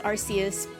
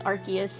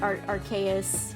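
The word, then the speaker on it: Arceus: I know it's actually I always thought it was Arus and I think most people pronounce it that way, but it's it's Archus actually. So, or maybe even more like Archaeus, which makes more sense, but everyone always said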